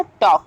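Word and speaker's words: talk: हो गया now next word is टॉक टी ए एल के राइट सो यहां पर अब हम चेक करेंगे कि के के पहले हमारा एल को यूज किया जा रहा है यहां पर एल वर्ड को यूज कर रहे हैं हम सो यहां पर एल हमारा साउंड साइलेंट हो जाएगा तो क्या हमारा वर्ड हो जाएगा टॉक only now next word is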